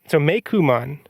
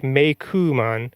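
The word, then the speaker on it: Meicoomon: Like Coon starts with COO and is spelled and is pronounced Ku.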